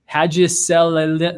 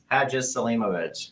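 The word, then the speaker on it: Hadžiselimović: I'm going to have the courage to pronounce Harris's name. Hadziselimovic. No, I blew it. Go for it. Hadziselimovic.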